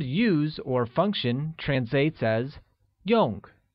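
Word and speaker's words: 用: or function translates as Yong which is pronounced using a falling tone how translates as Z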